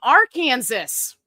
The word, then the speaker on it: Arkansas: You keep me laughing from Arkansas. I bet you didn't know that's how it's supposed to be pronounced.